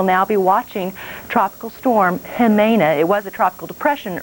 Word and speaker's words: Jimena: so we will now be watching tropical storm jimena it was a tropical depression early much post tropical storm tamina is the name you don't pronounce Jake he may not 12.1 north 130